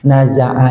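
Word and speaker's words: نزع: saat wafatnya namanya naza kalau bahasa kita naza. Naza'a itu dari kata bahasa Arab, Pak. Naza'a artinya lepas. Jadi lagi najah dia. Bukan najah, tapi naza.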